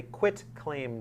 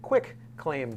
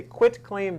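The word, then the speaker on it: quitclaim: the other types of uh deeds most often mispronounced term in the law as far as i know is called a quit claim deed often referred to as a quick claim d that's what i thought it was which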